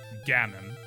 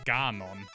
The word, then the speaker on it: Ganon: But they pronounced Ganon, German, which is Ganon.